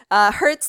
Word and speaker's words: hertz: Hertz like, ow, it hurts, but it's spelled a little bit different. So hertz like that.